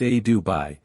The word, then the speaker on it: adobe: Vermont 1847 pronounced somry Adobe pronounced a duai a thick clay of